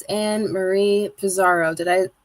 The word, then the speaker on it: Pizarro: It's Ann Marie Pizaro. Did I pronounce it correctly?